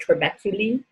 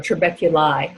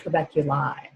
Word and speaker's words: trabeculae: The holes are called trabeculae, or trabeculi, I'm sorry, AE is pronounced I.